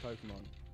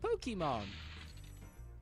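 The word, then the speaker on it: Pokémon: What's so special about the way I say Pokemon? Is it because like I don't say like I don't say it like a hard A, and I definitely don't say it like a hard E. Like Pokemon. Like Bill Cosby apparently said it on The Simpsons.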